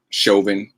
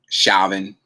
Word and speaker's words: Chauvin: police officer i derek chauvin i i liked it when they started out saying shalvin or chavin or something like that mispronouncing his name i loved it i